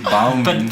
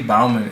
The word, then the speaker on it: Bouman: Katie Bowman, and then I got MIT. Oh wait, Katie Bowman. How do I spell that? Bouman. B-O-U. Man. That's the weird spelling of Bowman, man.